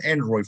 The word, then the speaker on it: EROI: What is your best estimate for Android, for total Android for the world right now? EROI? Android. Sorry, that's how I pronounce it. Since I invented it, sort of, I can define how it should be said.